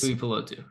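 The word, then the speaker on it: Tuipulotu: it's Tui Pelotu.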